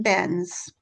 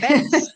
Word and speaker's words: Benz: We have to teach them how to pronounce the German way. Mercedes, Benz, Benz.